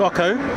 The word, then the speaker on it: OCO: And you also tell us the name, because many different people pronounce it different ways. They do, yes. So the game's called OCO.